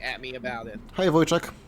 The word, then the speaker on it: Wojciech: Hey Wojciech, how are you doing? Well, Is that how you say his name, Wojciech?